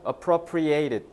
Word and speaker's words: appropriated: 자, 발음을 제가 appropriated 이라고 해서 액센트를 뒤에다 뒀으니까, 그러니까 동사로 본 거고, appropriate라고 하면은 적절한이잖아.